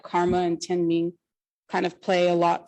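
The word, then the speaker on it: 天命: As for Tian Mi, the characters at the bottom it's pronounced Tian Ming, and it's the mandate of heaven.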